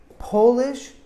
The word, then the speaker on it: polish: long o sound polish we also emphasize the first syllable but instead of being an o sound it's an a sound like octopus the principal will present